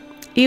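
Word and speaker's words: ewe: E we think that it's pronounced like a U. I could be getting it wrong though. E is a female sheep.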